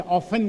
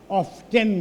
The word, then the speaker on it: often: सामान्यतया टी के उच्चारण नहीं होइ छै, ऑफन कहल जाइ छै, लेकिन लंदन विश्वविद्यालय के प्रोफेसर ओकरा ऑफ्टेन कहता।